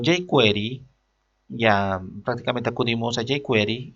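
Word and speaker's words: jQuery: no programar desde cero lo que es query se escribe la jota iker y entonces con jake query ya prácticamente acudimos allí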